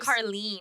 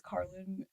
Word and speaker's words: Carlin: Carlene? Yeah. Yep. Is that how it's pronounced? Yes. Oh, yeah. It's I Janessa just- Carlene, everybody. She just Everyone says Carlin, and it's just been.